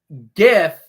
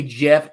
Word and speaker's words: GIF: It's GIF. If you say Jeff, get out.